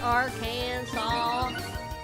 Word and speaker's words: Arkansas: Yeah, it's pronounced Aran Saw. I don't know why. I can understand the arcan, but the saw at the back end, I don't know if it's like what language they pulled that SAS from.